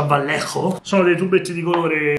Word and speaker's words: Vallejo: Per i colori io personalmente uso il Vallejo, che si pronuncia Vallejo.